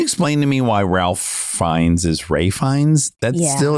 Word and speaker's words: Fiennes: Ray Fiennes is good too. Oh my God. He's so good. Can you explain to me why Ralph Fiennes is Ray Fiennes?